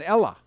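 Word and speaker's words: Ellah: that's what it'll say an ella but it's e-l-l-a not a-l-l-a-h it's e-l-l-a-h uh but that's just how they pronounce it and stuff but i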